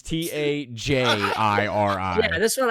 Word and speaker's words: Tajiri: How'd you spell it? Tagiri. Okay, so you did spell it wrong. What? No, that's not wrong. That is wrong. It is Tajiri.